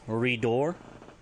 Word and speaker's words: riduur: If you want to say spouse, it's Ridor, RIDUUR, Ridor.